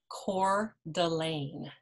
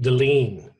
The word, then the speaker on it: Coeur d'Alene: name of that town so what is it again Coeur d'Alene d'Alene I think I've said Deline in the past and people have wanted to slap me you I'm not sure